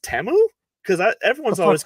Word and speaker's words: Temu: learning that teu is not pronounced teu is pronounced temu because that's that was my biggest takeway from